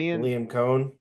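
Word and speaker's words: Liam Coen: Le Liam Cohen. Le Cohen. Thank you. It rhymes with it.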